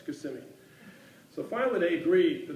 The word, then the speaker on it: Kissimmee: to pronounce the town he was saying it's spelled k-i-s-s it's got to be kissing me and she's saying no it's Kissimmee so finally they agree